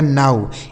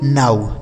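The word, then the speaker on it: now: ये हो गया आपका ग्लो लेकिन इसको क्या पढ़ेंगे आऊ एन से हो गया नौ ओ डब्ल्यू का उच्चारण आउ इसे पढ़ा जाएगा नाऊ एन ओ डब्ल्यू नाउ ठीक है तो ये सब आपको सीखना चाहिए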